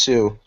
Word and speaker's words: Hsu: run a strict dictatorship how do you pronounce the last name Hsu Curtis I think it's just Sue yeah the H is Sue yeah Sue yeah it's